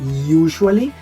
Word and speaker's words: usually: Always, usually, no comenzamos con usually, no, usually, y este sonidito de sh, ¿sí?